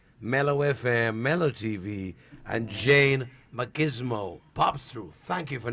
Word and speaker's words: Jane Macgizmo: You don't say Mac, pause. You do it smartly. Jane Macgizmo.